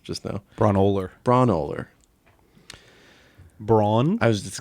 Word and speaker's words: Braunohler: We've got Washing Machine by Sonic Youth, Washing Machine by Flipset Fred, UK Washing Machine by Kurt Braunohler, whose name I mispronounced just now. Braunohler.